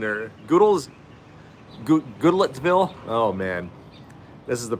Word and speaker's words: Goodlettsville: Is it Gudelberg or Gudelton, or I don't know.